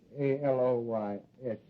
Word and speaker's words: Aloysius: I guess you deserve a break yeah you spell that middle name right it's a-l-o-y-s-i-u-s Aloysius sure how could I miss it Aloysius